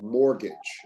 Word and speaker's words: mortgage: It pleaded mortgage mortgage remember the t is silent mortgage very good victim victim